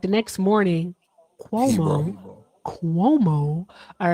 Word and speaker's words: Cuomo: I want to make sure I pronounce it right. Cuomo.